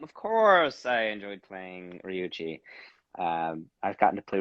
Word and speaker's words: Ryuji: which it's funny because ryuji is that micro pronouncing it correctly yes ryuji um is best boy is asking you did you enjoy voicing ryuji and persona 5.